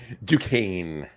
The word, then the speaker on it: Duquesne: Duquesne. And it's spelled, if you take the Q and change it to an F, it's Dufresne, like Andy Dufresne from.